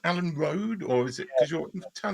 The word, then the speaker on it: Rhode: No, Alan Rode in the English way.